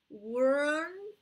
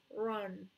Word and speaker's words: wrong: It's not like run, but it's run. It's más R que W.